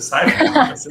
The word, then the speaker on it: SAIFE: Até aprendi a pronúncia, Saif.